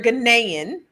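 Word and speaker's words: Ghanaian: Last night I said Ganaian and she had to correct me, but you're Ganaian.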